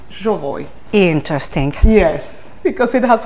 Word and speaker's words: Jovoy: came to suspect that actually you pronounce it jooy interesting yes because it